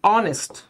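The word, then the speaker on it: honest: বাট যখন আমরা বলি অনেস্ট, আমরা কিন্তু এইচ ইউজ করতেছি, নট ও।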